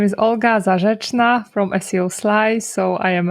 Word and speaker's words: Olga Zarr: Your name is hard for me to pronounce, so I'll rely on you to help me out. Okay, so my name is Olga Zarr from Ezoic.